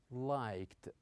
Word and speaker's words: liked: We usually pronounce the ending of this verb with the sound ta. With the sound ta. For example, we say liked, liked.